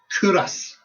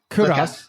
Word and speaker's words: Culross: So don't pronounce the L. So it's Curos. Curos.